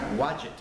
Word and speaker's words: Wadjet: There were some goddesses, like the goddess, let me make sure I get the name pronounced, Wadjet.